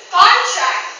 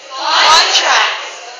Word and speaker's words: contract: It suggests or it indicates that if the syllable is in the initial part, the word might be used as a noun. And if it's in the if the syllable is in the second stress, if the stress is in the second syllable, the word is used as a verb, right?